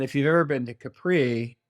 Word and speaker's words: Capri: Italy and or his Americans say Capri but in in Italian they say Capri and so we stay